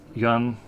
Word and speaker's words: yuan: is the currency here that word is one syllable it's kind of painful I'm not sure how to fix this quickly how about trying to say Yong Yong Yong I thought it